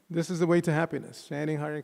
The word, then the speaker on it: Hare: Everybody say, Hare Krishna, Krishna Krishna, Hare Hare, Hare Rama, Rama Rama, Hare Hare. Each of those words composed of 2 syllables.